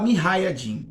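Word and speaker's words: mujahidin: que chamam minha raiding se escreve muja e de mim mas se fala me hayatim Ok esses Rebeldes nasce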